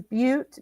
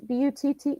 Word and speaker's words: Butte: and I think I saw like is Butte Butte? Is that how you say it? Cute, yeah.